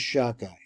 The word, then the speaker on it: Shaddai: And so this is how you get to the combination of the divine name, which is SHADDAI, pronounced like that.